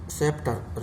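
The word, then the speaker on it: sceptre: सेप्टर यानी राजदंड, ये सी वाले अक्षर है, साइलेंट वर्ड है ये सी।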